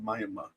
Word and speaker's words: Miami: Um, there's a city in Oklahoma that's spelled Miami. They call it Maya.